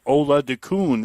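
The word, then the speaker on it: Oladokun: Chris Ola Dun is actually how you pronounce that.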